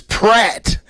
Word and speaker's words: Pratt: And Nia said it's Pratt with an R. Chris Pratt. What you put? Oh man, hold on. What you put? She got on us the last podcast, man. It's P-R-A. She said pronounce the R. There's an R in there.